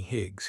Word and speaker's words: Hig: "Don't me, Higs. Hig rhymes with big if you forget."